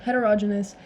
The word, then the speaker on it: heterogenous: you've probably heard of the pronunciation varies but I say it as heterogenous and homogeneous mixtures so